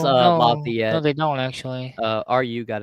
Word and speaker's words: Lafayette: pronounced No, Lafayette.